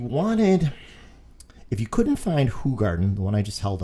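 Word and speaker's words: Hoegaarden: in buffalo asks for hoe garden because we're americans and we can't be bothered to say it the way that the belgians actually say it which is who garden okay this is only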